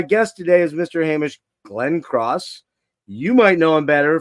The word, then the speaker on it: Glencross: Hamish, and I hope I'm saying it right, Glencross. And did I say it right? You absolutely said it right, Jeff.